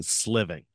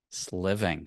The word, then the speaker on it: Sliving: SL living land yeah it's like slaying and living like you're gonna slay living sliving sliving singland will Premiere an